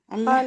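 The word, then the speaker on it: الله: আরেকটা জিনিস বলেন এখানে, এইখানে আল্লাহ শব্দের লামটা পূর্ণ না বারিক? ক্বালাল্লাহু কি বলছেন একটা বাংলাটা কি বলছেন স্যার কি বারিকের আগের এই একটা কি শব্দটা বাংলা না, মানে লামের উচ্চারণটা পোর হবে না বারিক হবে? পুর হবে অর্থাৎ মোটা হবে না পাতলা হবে? এটা মোটা হবে মোটা হবে।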